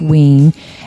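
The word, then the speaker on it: Wein: wean it's spelled we i n but it's pronounced wing and the illustrator was Guy Davis right and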